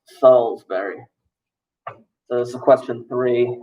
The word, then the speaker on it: Salisbury: click where does market go to college it's pronounced salisbury it's pronounced salisbury so this is question three that's wrong question